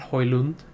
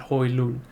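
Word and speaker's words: Højlund: got hoilun and yeah it's pronounced hoyland apparently not hoyland but hoi loon so they got hoylan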